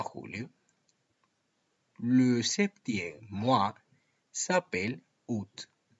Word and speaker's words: août: Mirad qué interesante cómo el mes agosto los franceses pronuncian août. Pronuncian el diptongo o u, como su diptongo es su realización, o u, août, pero los franceses no pronuncian la a.